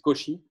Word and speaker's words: Cauchy: Que sepan que en francés AU se pronuncia O porque somos así. No se dice Cauchy, se dice Cauchy. Y usen ¿cómo se dice? La sh chilena de... no la ch, la sh.